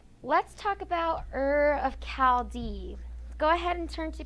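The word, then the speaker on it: Chaldea: Chaldee. Ready to begin. Chaldee. It's not Chaldee, even though it's spelled like that. It's Chaldee. It's pronounced with the K.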